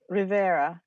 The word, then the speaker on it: Rivera: Rivera. Did I pronounce it right? Rivera.